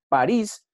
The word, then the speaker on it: París: París, lo divido en sílabas, el acento está en gris, París, y aquí cumple la